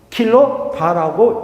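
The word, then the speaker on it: kVA: 바 또는 뭐라고 읽는다? 킬로 바라고 읽는다.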